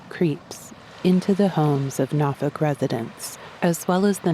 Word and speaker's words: Norfolk: It's spelled Norfolk, but I've been instructed to pronounce it Norfolk, though really people from different parts of the city say it different ways.